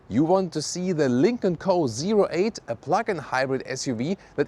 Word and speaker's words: Lynk & Co: Let's go with the Lincoln Co.08. That's also how you officially pronounce it.